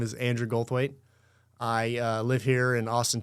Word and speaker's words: Goldthwait: Goldthwait. Goldthwait.